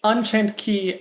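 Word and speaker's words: Unchained χ: It's Unchained Key and then Union Cross. Both of those are spelled with an Damn.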